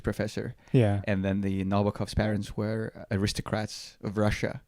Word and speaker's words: Nabokov: How would you pronounce it in English? I think it's Nabokov. Nabokov.